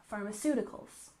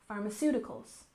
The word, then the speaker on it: pharmaceuticals: produces the medication and we put the stress here on the third syllable Pharmaceuticals Pharmaceuticals and don't forget this pH makes the F sound one more time Pharmaceuticals for example the pharmaceutical company